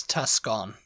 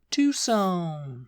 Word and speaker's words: Tucson: EA topa whatever uh I actually did used to pronounce this Tuscon oh yeah Tuscon Arizona Tuscon Arizona and that's probably how a lot of people in Britain pronounce it Tuscon they see it written down they go Tuscon really but it's actually it's quite a it's quite a Tucson yeah it's quite a